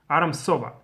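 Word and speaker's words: ארם צובה: from Aram or how they pronounce SOA they pronounce as a kind of strong s Aram SOA so what is this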